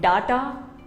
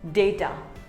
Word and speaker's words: data: word it is not data it is called data say day ter similarly here's another word